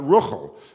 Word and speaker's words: Rachel: And more generally, how do we know Rachel is pronounced Rachel and not Ruchel, for example, or Rochel, the way it is in Yiddish?